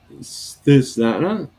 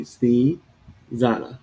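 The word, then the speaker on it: Snezana: She said about okay, Snana. Is that how you pronounce your name? It's Sna Snee Zana Sneezana.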